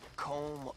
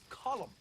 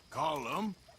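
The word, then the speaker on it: Colm: not killing me let me tell you old comb oh Driscoll he's a rotten fella not you as well it's not cold it we say column well uh he likes comb he's American boy's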